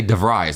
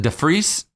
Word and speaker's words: de Vries: i've got uh sinead i never say your last name right because i always say devry's that's how i say it but he pronounced it de frise how did we say